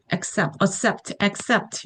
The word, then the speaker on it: accept: I do not accept 요 발음이 accept 이렇게 발음해요. 거의 발음이 이거랑 비슷해요. except.